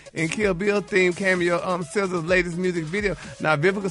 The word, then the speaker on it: SZA: SZA SZA. In SZA's video, baby. She been getting messages from handsome men from all over the world ever since she starred in Kill Bill theme cameo SZA's latest music video.